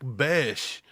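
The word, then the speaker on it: Bech: He pronounces it Besh. I thought it was Beck too, and the announcer said Besh.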